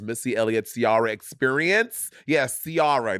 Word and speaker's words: Ciara: Yes, Ciara. That's how she pronounced her name. Ciara, not Ciara.